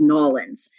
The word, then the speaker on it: New Orleans: do say New Orleans the thing that I think a lot of natives kate is nollans because nollans is like this sort of I